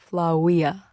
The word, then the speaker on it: Flavia: You know, the V is supposed to be pronounced W. What? In Flavia, it's supposed to be pronounced Flawia.